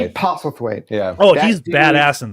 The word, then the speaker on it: Postlethwaite: Bobby, you're just going to be the one to pronounce his name from now on. Postlethwaite.